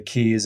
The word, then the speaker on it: Kei: And Key Island is spelled Kei.